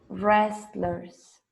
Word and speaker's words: wrestlers: sumo worst term fat when you have w r don't pronounce w when you have this w r the w is silent okay for example you say right wrong wrestlers wrestlers okay but they